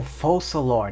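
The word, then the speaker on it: Focalors: preside over individual trials oh folsalore not folklore that's the thing if you want to pronounce the C like a like an S fossil or you need a little accent mark Below on the bottom of the C that there's like a little Mark hanging below the sea I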